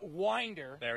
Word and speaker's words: Winder: do you pronounce it oh it is winder you know when you play for the windsurge you want to say it the other way around he's a winner i mean he's made